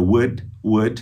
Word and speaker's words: would: Basta, então, você colocar essa palavra mágica, would, de good, good, esse L não tem som, would, depois do sujeito.